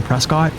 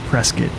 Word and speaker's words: Prescott: out-of-towner if you say Prescott. Like everybody calls it Prescott. Almost like biscuit, but with a P.